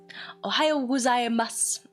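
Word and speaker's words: おはよう: Ohio is morning for me still. So, The u is silent and will always be you can actually say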